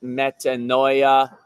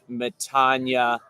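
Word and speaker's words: μετάνοια: Repent is a Greek word, metania. You might, in the way you use Greek terms in English, feel more comfortable pronouncing it metanoia, although in Greek they would say it metania.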